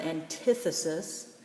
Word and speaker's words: antithesis: first one one antithesis notice I made the I big and dark to notice that it's not anti but the emphasis the accent is on the short eye sound antithesis so anti is the